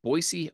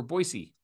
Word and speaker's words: Boise: Today we're going to be talking about the Boise Hawks, who play in the Independent Pioneer League.